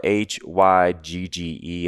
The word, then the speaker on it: hygge: this idea they have in their culture called hygge and I think it's spelled h-y-g-g-e and it's pronounced hygge and there's no direct